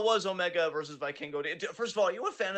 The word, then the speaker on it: Vikingo: I know that you like to get pronunciations right, and I just want to say this one time to make sure. It's Vikingo.